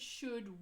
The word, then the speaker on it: should: you LD sequence correctly the L is never heard so could should would is the correct